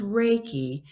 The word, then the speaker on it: Reiki: a couple times in your book titles is reiki if i'm pronouncing that right can you explain what that is yeah it's pronounced as reiki and it's really started oh gosh back in